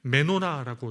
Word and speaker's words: 메노라: 이 등잔대를 히브리어 그대로 이제 말을 하면 발음하면 메노라라고 이렇게 하기도 합니다.